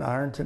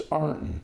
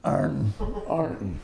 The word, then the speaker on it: Ironton: It's Arnton. Arnton. Well, that's the way the locals pronounce it.